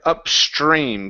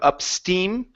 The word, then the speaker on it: upstream: Let's go to the word upstream. Give me a good R sound right here instead of upsteam.